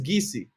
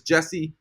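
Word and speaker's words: Geyse: Her name is Gisi. Well, I say Gisi, but I think it's wrong. I think it's Jessie. The actual pronunciation is Jessie, and she's amazing.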